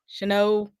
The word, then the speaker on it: Chanot: How do you pronounce it? Chanot.